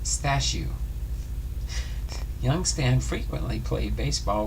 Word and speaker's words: Stashu: his son by the Polish nickname stashu pronounced stashu young Stan frequently played